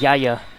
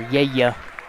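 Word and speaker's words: Yahya: I believe it's pronounced Yaya. Or Yaya. Y-A-H-Y-A.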